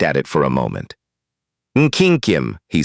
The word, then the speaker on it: Nkyinkyim: "Nkyinkyim," he said, pronouncing it correctly. "Nkyinkyim," and looked up.